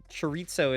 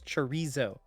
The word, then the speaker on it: chorizo: No, chitoso is not. It's chorizo.